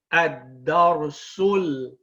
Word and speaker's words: الدرس: That being said, you do not pronounce it when you join. You say ad-darsul, and you join the sin with the dhamma to the lam with sukoon.